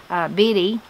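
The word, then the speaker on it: Bittie: Biddy, B-I-T-T-I-E, Biddy Connor.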